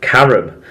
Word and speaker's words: carrom: He said, after the mention of kabaddi, it reminded me of another Eastern Asian sport I saw on Eurosport called Carom. It's spelled Carrom.